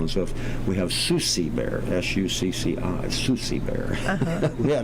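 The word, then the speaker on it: Succi: and so on and so forth, we have Susie Bear, S-U-C-C-I, Susie Bear. We had a child years ago that had trouble pronouncing Susie, so it becomes Susie.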